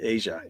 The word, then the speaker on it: Aja: Not Asia, but Aja? Black Cow. It is Asia, isn't it? Asia. Yeah, I always say it wrong. Aja.